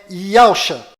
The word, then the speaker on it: Yahshua: O verdadeiro nome do Messias está do lado direito da sua tela e a pronúncia dele é Yahshua.